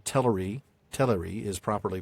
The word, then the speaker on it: Teleri: Yeah, the first syllable is the stressed one, the t e l. But, it is also a Christopher Tolkien manages to get that air in there even though it's not the stressed syllable, and I I can't think of a way as an American to do that without uh faking a British accent.